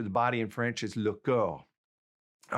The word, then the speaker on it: le corps: Okay, now let's get the word for the body itself, and that is le corps.